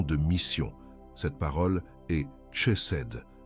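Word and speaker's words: חסד: Cette parole est chesed. Prononce-la avec moi, rised, avec une respiration douce sur le début.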